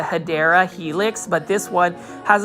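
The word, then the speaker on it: Hedera helix: say that you know the correct way to say English ivy is the hadera Helix but this one has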